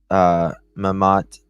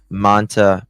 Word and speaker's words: Mamta: On or about July 30th, the accused Naresh Bhatt unalived his wife, Mamat. I say it wrong every single time. Mamta Bhatt.